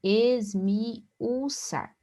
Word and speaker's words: esmiuçar: Esmiuçar, observe, esmiuçar. Nós temos um hiato. O I e o U não ficam na mesma sílaba na pronúncia.